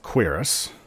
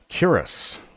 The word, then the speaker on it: cuirass: Oh, some pronounce it Cuirass, but I think that those people are out of their minds. Cuirass.